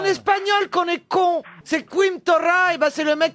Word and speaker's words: Quim Torra: Et à côté, Torah, ça s'écrit comment? Théodosera. Ah, 2 R. Mais c'est en espagnol qu'on est con. C'est Quim Torra, et ben c'est le mec qui va remplacer.